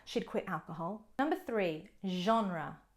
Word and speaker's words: genre: quit alcohol number three genre genre again you won't hear that j sound pronounced with a g in normal english words only with the french genre is referring to